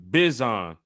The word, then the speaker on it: Bijan: He said it's Bizon. Bijan. French. Bijan.